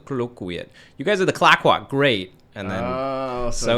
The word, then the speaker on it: Clayoquot: that, one in the East Coast and now Clayoquot. How do you say it? Clayoquot. Clayoquot. Yeah. It's, I think I butchered that in your intro.